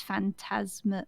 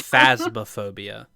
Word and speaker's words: Phasmophobia: popular and now it's this fantasma I keep saying it wrong fantasm phobia that's it I keep trying to say fantasmagoria which is Final Fantasy it's phasmophobia not fantasma itob it's phasmophobia now now I'm disappointed